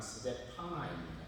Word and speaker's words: 스데파나: 그런데 정확하게 발음하면 자막에 보시는 대로 스데반 집사는 스데파노이고 고린도 사람 스데바나는 스데파나입니다. 공동번역에 보면 이 두 개를 정확하게 구분해서 이름을 번역을 하고 있습니다. 스데반은 스데파노, 스데바나는 스데파나 이렇게 알고만 계시면 되겠습니다.